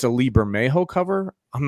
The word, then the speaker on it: Bermejo: I believe I saw, and please don't crucify me if I get this wrong, but I believe it's a Lee Bermejo cover.